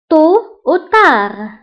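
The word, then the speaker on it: tôt ou tard: فانتبهوا بالنسبة للتو كنكتبوها بالدي في آخر الكلمة ولكن ما كنطقوهاش، أو تار أيضا كنكتبوها بالدي في آخر الكلمة ولكن لا تنطق.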